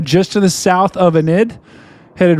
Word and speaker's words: Enid: This time it does include the town of Anid, right? Storm media, that's how you pronounce it. So folks that live in Oklahoma, if you live in Enid, uh, be uh be getting to your safe place.